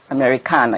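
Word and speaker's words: Americanah: is um Americana well it's called Americana Americana you have to pronounce it proper Americana it's a Nigerian word I have to make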